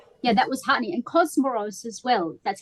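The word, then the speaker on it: Comoros: And Cosmoros as well. That's how you pronounce it.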